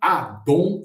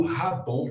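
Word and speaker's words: Haddon: Então esse cidadão é William Adon ou Radon, já escutei as duas pronúncias, William Adon Júnior.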